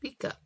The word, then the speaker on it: pika: Oh, pika. I guess it's pronounced pika. Here we pronounce it pika.